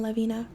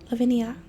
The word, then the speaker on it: Lavinia: blowing Treetop sideways there was a fleeing fleeing Lavina lavenia I was saying her name wrong my bad canth and Gil hide behind